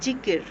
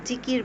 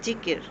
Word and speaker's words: যিকর: ভাষায় জিকির কথাটি প্রচলিত হয়ে আসছে আসলে সঠিক উচ্চারণ যেটা সেটা হচ্ছে জিকির হ্যাঁ আমরা জিকির বলি আসলে সঠিক উচ্চারণটা হবে জিকির।